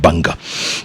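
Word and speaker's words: Gbarnga: the middle of a country a town called Banga Banga it spelled GBA and GBA Banga is ice pronounced what the writing is like Kabongo but it's pronounced Bunga that's where he set up his headquarters nice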